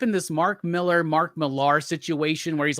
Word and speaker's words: Millar: let's settle this now i've called him mark uh martin milar for like i don't know 20 years he's mark millar maybe 100 yeah it just adds a little bit more flair to it right we already got one big miller in comic books we don't need another right so let's there